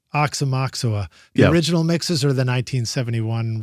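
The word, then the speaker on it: Aoxomoxoa: And you're going to have to set us straight on the pronunciation. Oxamoxa. Oxamoxa.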